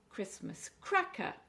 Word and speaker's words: Christmas cracker: Christmas cracker, again it's four syllables and we're stressing the cra.